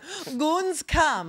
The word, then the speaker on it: Gamescom: It's pronounced Gamescom. Yeah. Gamescom.